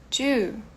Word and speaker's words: two: zero bom number two two perceba que o t ele é um pouco mais fraco do que o t em português agora aquele que nós